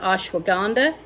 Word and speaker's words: ashwagandha: of the names correctly i do know that ashwagandha that is how you pronounce that i've also got the um chatavari